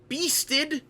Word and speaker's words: Byssteed: two weeks old but the beasted is how we're pronouncing this one with the weird spelling but i think that